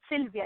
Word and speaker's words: Sylwia: know what I mean so it's Sylvia it's pronounced like regular like Sylvia oh okay okay okay